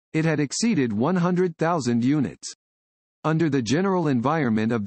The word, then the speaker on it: UNI: uni is pronounced uni it is the high-end